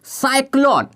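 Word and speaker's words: cyclone: देखिए अब यहां से ले लेते हैं क्या, साइक्लोन। हम लिखे हैं क्या, साइक्लोन। सी के बाद यहां वाई है तो इसका उच्चारण हम स कर दिए, बट यहां सी के बाद एल आ जा रहा है, जिसके चलते इसका उच्चारण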